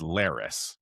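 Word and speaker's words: Larys: It was Lars that put Otto in the black cells. Yeah. Also, I'm quite certain that it's Laris is the pronunciation.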